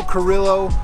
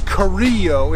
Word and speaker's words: Carrillo: a while first up Leo Carrillo or Carrillo if you pronounce it correctly State Beach there's supposedly